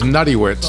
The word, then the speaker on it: Notwicz: It is Notwicz. Notwicz. Yeah, that sounds like a paste of some kind. That's the real Polish version of it.